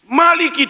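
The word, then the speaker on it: مٰلِكِ: Surah Fatihah Maliki dibaca panjang tanpa ditulis alifnya. Alifnya enggak ditulis tapi bacanya panjang.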